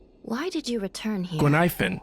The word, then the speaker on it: Guinaifen: Guinaifen. Oh, I've been saying her name wrong.